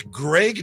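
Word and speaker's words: Graig: Is his name Greg Nettles or Craig Nettles? It's Greg Nettles, but it's spelled G R A I G.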